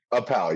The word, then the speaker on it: Appel: Um um and I I never really asked the pronunciation of your last name. Was it Appel? Am I right? Appal.